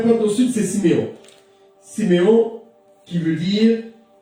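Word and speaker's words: שמעון: Siméon, qui veut dire, ça s'appelle Chiméon, il se prononce Chiméon, entendu.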